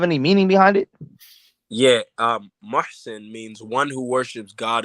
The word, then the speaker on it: Muhsin: It's Mushin, not Mushin. No, it's Muhsin. It's Muhsin. Like Mussin. Muhsin, like Mason, but Muhsin.